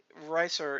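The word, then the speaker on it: Risur: We may have to end up bringing that back at some point, but Ricer, it's supposed to be pronounced Reeser. No, Resur or something like that. But we've always pronounced it Ricer.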